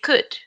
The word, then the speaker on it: could: and the other one remember the L is not pronounced so we say could could and the O